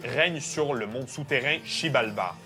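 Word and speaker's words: Xibalba: sur le monde souterrain shibalba parce que oui la langue maya le X fut le prononce CH Oui les maillots ils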